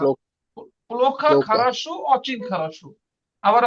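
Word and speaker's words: плохо: পুলোখা, পুলোখা, এটার উচ্চারণ পুলোখা। লোক, পুলোখা লোকা, খারাসু অচিন খারাসু।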